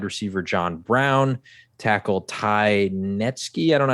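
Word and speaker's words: Nsekhe: They lost wide receiver John Brown, tackle Ty Netsky. I don't know how to pronounce his name. Nasecki.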